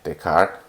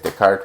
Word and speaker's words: Descartes: name is spelled d-e-s-c-a-r-t-e-s the car and this last part of his name is what gives the name to the coordinate system um because the his name is the card we call it the